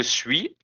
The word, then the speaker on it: suis: Je suis, I am. Remember, we don't pronounce the S in the end.